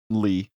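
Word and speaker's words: Leigh: wrote this yeah what l-e-i-g-h how would you pronounce that Lee Lee okay cool too many letters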